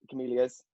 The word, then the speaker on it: Camellia: Sorry, before everyone disappears, I'm running an event on the 27th of July, day after Camellia's. Yeah. Did I pronounce that right?